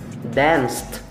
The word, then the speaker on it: danced: Danced.